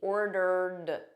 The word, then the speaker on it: ordered: I've I've I've ordered so notice this Ed here is just a soft D ordered ordered repeat after me